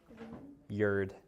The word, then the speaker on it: Grignard: How do you pronounce this again? Grinard. Grineard. I'll understand what you mean if you call it Grignard.